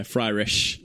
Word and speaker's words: Fryrish: Fryish. Yeah, I mean that pun doesn't make sense if you say it like that. So I'm not really sure where that confusion comes from. But yeah, Fryrish.